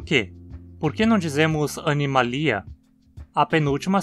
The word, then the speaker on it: animalia: Acho que aqui todos estão cientes de que a pronúncia adequada é animalia, certo? Mas por quê? Por que não dizemos animalia?